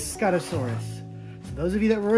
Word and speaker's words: Scutosaurus: and uh sticking and styracosaurus now i always pronounce these ring it's scott asaurus okay it's scottosaurus those of you that were annoyed that i